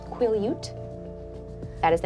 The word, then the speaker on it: Quileute: Ute? I'm so sorry. I believe, and I apologize everyone, I believe it is pronounced Quileute.